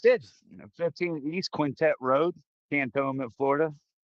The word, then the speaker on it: Cantonment: It's not cannon. It's like can can you say it right? Tone the tone of your voice. And then meant I meant to say that and tone and I meant it.